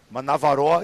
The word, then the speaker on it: Manavaroa: Now, Manavaroa is kind of more of a Tahitian or a Cook Islands pronunciation. How would you say that in Maori? Oh, give me I've just Manavaroa is how we would say it. We'd follow on with that. And we'd roll the R, called roll.